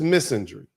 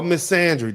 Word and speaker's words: misandry: This is misandry or misandry, depending on how you want to pronounce it.